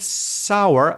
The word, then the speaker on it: sour: So it's almost got a W. Well, it has a W sound in there. So imagine a W letter in the middle of that word.